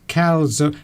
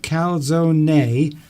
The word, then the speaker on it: calzone: I can see this calzone, but do you pronounce the E? Is it calzone or just calzone? I think you do pronounce the E, because from what I understand about Italian, you have to pronounce every syllable. So I think it's calzone.